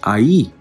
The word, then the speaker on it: Ai: of Joshua okay and it was pronounced I.E okay same spelling different pronunciation they say AI right they just pronounce the letters when you pronounce the letters and make it into a word it'll be pronounced I.E okay now when you